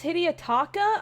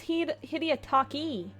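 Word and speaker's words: Hidetaka: His name is Hideiotaka. I thought it was Hideiotaki.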